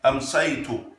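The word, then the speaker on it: أمسيتُ: Amsaytu. Saytu. Don't say say. Amsaytu. Amsaytu.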